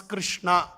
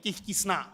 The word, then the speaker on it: Krishna: due to some inability we see Chinese devotees they cannot properly pronounce Krishna they kishna so but there it's not